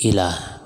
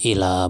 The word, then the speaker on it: إلى: yang ketiga Insyaallah Azani ilah huruf atau yang kedua adalah ilah dalam pengucapan jangan Terbalik ya Ini bacanya illa bukan Ila ada ilah ada Ilah